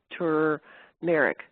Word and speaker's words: turmeric: Yeah, and back on the pronunciation, apparently there's an R in turmeric that turmeric.